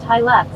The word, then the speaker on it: Hilux: At Cool Dash Guy said, it's pronounced Hilux.